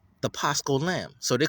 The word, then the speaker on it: Pascha: So the Paschal Feast, the Pesach Feast. I don't know why they're saying Paschal. Paschal, that's stupid. Just say it right. But in their language, they say Pascha.